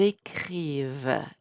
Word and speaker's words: écrivent: Are we pronouncing the ENT? No. Ils écrivent, elles écrivent.